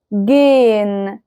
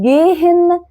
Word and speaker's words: gehen: زي verb sehen sehen gehen gehen. هل سمعتوا نطق الها كده واضحة وصريحة؟ لا، بس حسينا ان ليها تأثير على اللي قبلها. فما ينفعش تقول زيهن، ما ينفعش تقول جيهن.